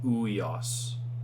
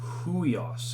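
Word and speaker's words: υἱός: uh as i said this upsilon yoda is like that we noise so we pronounce this huios i'll give you an introduction to breath marks later which indicate where you you would pronounce an h um but just looking at this is like ueos now you need the h so it's huios and you get that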